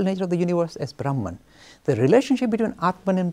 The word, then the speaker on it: Brahman: The Sanskrit pronunciation is Brahma, but in English we make it Brahman.